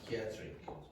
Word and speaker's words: psychiatric: Uh the next thing and this the last thing actually don't pronounce P at the beginning of words that begin with PS. So, how do you pronounce psychology? Psych. Psychology. Psychology. Okay. Psychiatric.